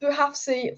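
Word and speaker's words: Bouhafsi: Also, Alice, it's pronounced Buhafsi for future reference.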